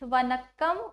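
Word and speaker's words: வணக்கம்: is my first Tamil word vanakam I am pronouncing it right H it's vanakam Oram okay again next question who is going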